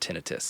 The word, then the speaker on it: tinnitus: I was listening to a podcast with an audiologist, and they said it is pronounced tinnitus.